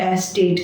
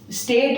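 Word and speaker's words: estate: एस्टेट, ठीक है, एस्टेट्स, स्टेट नहीं, स्टेट माने तो राज्य है, एस्टेट जमीन को कहते हैं बड़ी बड़ी, ठीक है।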